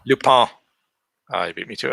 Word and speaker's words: Lupin: It's pronounced Lupin. Lupin.